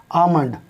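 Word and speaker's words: almond: ठीक, अब जैसे अगला शब्द ए एल एम ओ एन डी, आमंड। आमंड माने बादाम, ठीक है ना, इसमें भी एल से पहले ए आ रहा है, तो यहाँ भी एक एल की आवाज़ नहीं निकलेगी।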